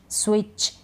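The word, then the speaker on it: switch: तो इन सारे स्पेलिंग्स में टी के बाद सी एच है। टी को हम नहीं पढ़ रहे हैं, टी का उच्चारण नहीं होता, ये आपको ध्यान रखना है।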